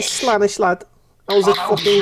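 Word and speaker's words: Slaanesh: It's not Slaneches. Slanish. Slanechi. That's what we... Slanish. His name's Slanish. Slanish. You like Slanish, lad?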